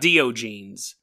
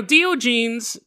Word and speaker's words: Diogenes: And I'm Dio, like the rock band, and then genes.